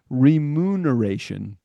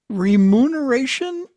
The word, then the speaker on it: remuneration: Remuneration. Okay. Now, is it spelled with an N, not an M? Re M as in Mary, not Reen as in Nancy.